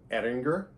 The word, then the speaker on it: Ayinger: those Oktoberfest beers now I may be mispronouncing this but this is how I was told to pronounce it I was told to pronounce this brand Edinger uh which sounds pretty German right um now this is